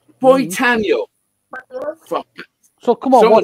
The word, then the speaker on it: Boitano: Brian Boitano.